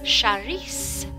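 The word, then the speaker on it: Saoirse: Cerise Locke. S-A-O-R-I-S-E, Charisse, and I apologize for all of this happening to you.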